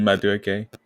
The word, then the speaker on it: Madueke: Noni Madueke. Madueke, yep. And I call him Madueke because I don't say his name properly.